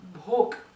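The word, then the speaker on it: भोक: Is one important word is bhok.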